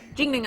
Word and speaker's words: Chincoteague: Jingding Island. Yeah. I can say it when I say it like that. Well, that's the local way of saying it. Island. Chincoteague.